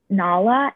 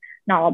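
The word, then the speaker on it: Najla: So I apologize if I'm mispronouncing this name wrong, but it's Nala, N-A-J-L-A, I believe.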